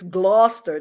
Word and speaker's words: Gloucester: I'm like, look, it's Gloucester.